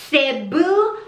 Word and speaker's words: Cebu: Can I introduce you, ladies and gentlemen, to Miss CEBU BLUE, aka Epipranum Pinatum. Now before we move on, people have mispronounced the word CEBU.